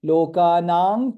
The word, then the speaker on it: lokanam: Lokanam kirti vardhanam, dha is mahaprana. Since anuswara is followed by ka, it will be lokanang kirti vardhanam. That's how it is pronounced.